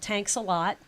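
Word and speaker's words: Thanks a Lot: It's called Tanks a Lot. The H in thanks is silent, H for Hudson, and silent for all the people that are suffering in silence.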